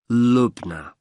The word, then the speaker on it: Lubna: I have your first name yes it's lugna Lubna can you spell that for me l u b n a